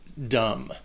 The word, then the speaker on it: dumb: And the last word, number 25, is dumb. And the only thing you need to know about this word is that the B is silent.